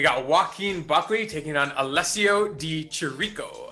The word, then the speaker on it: Alessio Di Chirico: joaquin buckley taking on alessio di chirico i believe that's how you say his name yeah you got it baby yeah you know